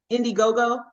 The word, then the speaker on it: Indiegogo: It says, the Indiegogo.